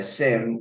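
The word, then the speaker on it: SIEM: just to explain what a Sim is a Sim which then is spelled s-i-e-m is a security incident and event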